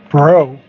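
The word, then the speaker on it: Breaux: So make plans to come to Bro Yes. Bro Vineyards Vineyards. And you want to give the address 3688 Bro Vineyards Lane. And that's spelled B R E A U X.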